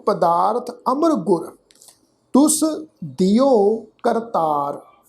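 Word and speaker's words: ਕਰਤਾਰੈ: करतारै शब्द है कक्का रारा तत्ते नू कन्ना रारा हाहा अखर मुक्ता। हाहा अखर मुक्ता अपने तो पहले अखर रारे दे उपर उलार दुलावां वांगू पाठ उच्चारण होएगा करतारै।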